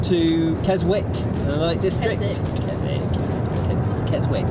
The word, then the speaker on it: Keswick: Keswick, it's spelled Keswick.